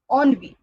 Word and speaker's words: ennui: The next one is, this word is pronounced as ennui.